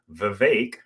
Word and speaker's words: Vivek: We have businessman Vivek, rhymes with cake, Ramaswamy.